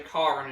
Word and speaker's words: Karin: of getting used to not to say Karen and say Karin instead because obviously that's what the game is saying I usually try to pronounce it the way that the game says it so um though the